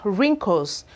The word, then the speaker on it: wrinkle: So we have wrist. We equally have wrinkles, wrinkle. So you can see that the W's here were actually not pronounced. They were kind of silent in this word.